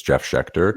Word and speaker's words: Jeff Sheckter: You pronounced my name right. It's Jeff Sheckter.